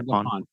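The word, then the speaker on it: Gapon: is a relationship with Father, I think it's Gapan. I don't know if I'm pronouncing that right. Father Gapan.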